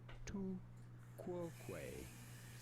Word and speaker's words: tu quoque: We are looking at how to pronounce tu quoque.